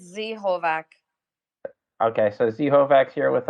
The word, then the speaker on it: Z-Hovak: artist so that is the z hovak or zovak how do you pronounce it uh it's z holvack okay so z-hovax here with us uh welcome